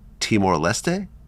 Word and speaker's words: Timor-Leste: You arrive to a small country named Timor-Leste? Oh, yeah. Am I pronouncing it right?